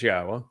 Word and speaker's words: Yahweh: Yes, it says Yahweh, which is the proper pronunciation of Yahweh's name, our Elohah, God, as directed by his Torah teaching regarding his Haya existence and our Shalom restoration.